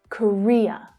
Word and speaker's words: Korea: So the middle syllable is stressed there. Korea, Korea. The other two reduce to the schwa sound.